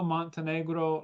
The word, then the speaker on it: Montenegro: Um very honored to have with me Elio Montenegro, like the country.